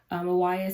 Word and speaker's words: MYWYA: Mawaya stands for Meet You Where You Are, come into a space of not ignoring where we are so that we can get to where we want to be. And it's spelled MYWYA.